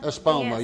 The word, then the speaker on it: Espoma: I cannot pronounce the name of it. Epis Espoma. Espoma.